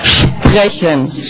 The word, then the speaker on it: sprechen: Sprechen.